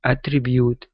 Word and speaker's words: attribute: up is a tribute give me a CH are instead of a thread a tribute ature attribute attribute good job okay and the